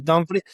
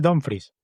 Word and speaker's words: Dumfries: antes de que sigas, ¿sabías que no se dice Dumfries? Opa, a ver, Se dice literalmente como se lee, ¿y cómo se lee? Dumfries, con U, ¡Wow!